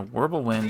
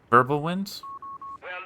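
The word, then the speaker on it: Wirbelwind: And a Wble Wind on the way. Verbal wind. Because V's W's are pronounced like V's.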